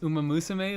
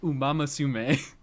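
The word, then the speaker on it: Uma Musume: And I watched them uh I watched the woman pronounce Uma Musame like Umamasume.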